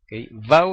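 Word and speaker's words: vav: la zin y la vau o Wau vau en hebreo moderno Wau en hebreo bíblico antiguo esas 12s parecen dependiendo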